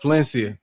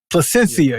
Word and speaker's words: Placencia: just go David off Palencia Placencia whatever you say the damn name Palencia Placencia Placencia Placencia yeah Placencia I apologize I think I've been saying it wrong this whole time and even before on